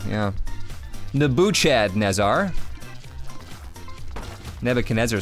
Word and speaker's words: Nebuchadnezzar: someone didn't have a Christian Catholic education is pronounced nebe could never kanessa what did I not read it correctly Nebuchadnezzar yeah yeah the boo Chad Nizar Nebuchadnezzar sounds like a blimp like literally like a